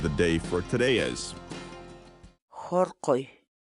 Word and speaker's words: hurquy: series videos where we teach you how to pronounce certain words in Quechua so our word of the day for today is Harley Harley Harley in English the Quechua word Harley means to